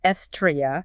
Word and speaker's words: Estrella: The lore Bible strictly mandates that this must be pronounced Estria, leveraging the Spanish word for star.